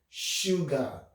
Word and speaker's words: sugar: So the letter S can pronounce the SH sound, sh, as in sugar, sugar.